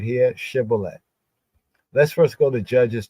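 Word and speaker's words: shibboleth: and other Israelites so they say to him now say shibolet and he said CET for he could not frame to pronounce it right you know like in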